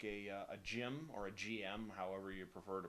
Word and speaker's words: GM: prefer to pronounce it I always pronounced it Jim because that seems to be how it's pronounced in the in the anime in the uh in the original Japanese but um whatever getting